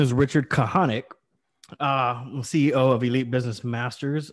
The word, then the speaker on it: Kahanek: right so um so my name is richard kahanek ceo of elite business masters where we come